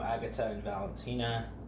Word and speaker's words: Agata and Valentina: If you know Agata and Valentina, that's how it's pronounced, is a very, very good market in Manhattan.